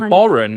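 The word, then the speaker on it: bodhrán: The next question that it's gone is the Borin is a type of what instruments the I can spell it for you.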